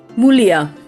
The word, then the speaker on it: Mulia: So, Mulia, or how does it pronounce? Is it Mulia or Mulia? Mulia. Okay, all right.